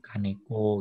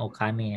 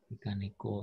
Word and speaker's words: Kaneko: Seperti Kaneko gitu ya. Bukan Okane ya. Kaneko misalkan seperti itu.